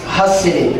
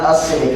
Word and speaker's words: Hasidic: story, she said, no, it's pronounced Hasidic, not Hasidic.